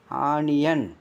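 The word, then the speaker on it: onion: seal உண்டாகும் பல் வியாதி ஆணியன் முதல்ல ஓவுக்கு என்ன வருது முதல் உள்ள நம்ம உச்சரிப்புல ஆ வந்துருச்சு அங்கிட்டு வர உள்ள வர ஓவுக்கு யா சவுண்டு ஆணியன் ஆணியன்னா தெரியும் உங்களுக்கு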